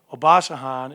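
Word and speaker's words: Obasohan: say his name obasan how do you say oh bah sahan is special i mean he is special i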